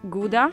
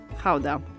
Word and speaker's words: Gouda: depending on whether you're a native you would pronounce it either gouda or Gouda so since we're talking about authentic Dutch cheese we're going to call it houda the cheese takes its name from the city